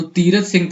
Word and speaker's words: तीरथ सिंह: थे वह कौन थे तीरत सिंह जो थे इनको कई जगह पर तोरत भी नाम से लोग प्रोनाउंस करते हैं तो तीरथ सिंह थे इनके लीडर ठीक